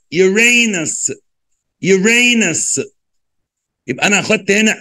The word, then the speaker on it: Uranus: وننطقها بقى Saturn, Saturn. يلا بينا, فضل عبد الرحمن. Uranus, U Uray, Ray, R A, Nus, زي بس, N U S, Uranus, Uranus.